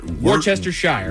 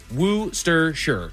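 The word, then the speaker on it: Worcestershire: But it's spelled what? Worst. Worchester Shire. Worester Shshire. But it's Woohshire. And that is a town in England.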